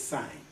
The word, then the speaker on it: sine: Now, the word sign, they spell it S-I-N-E. Sign, and I think that's fine because F-I-N-E is fine, so S-I-N-E is sign. Okay, so they say sine.